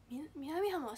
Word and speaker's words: 南浜: の耐えちゃった南浜七五三と同じイントネーション七五三七五三南七五三七五三南浜って